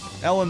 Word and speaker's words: Elon: I'm gonna tell you right now, Elon Musk is gonna be the death of this planet.